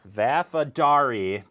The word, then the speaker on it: Vafadari: but uh NRI distri NRI oh man I already blew it Nicole vafadari district four perfect okay well done I've never had anyone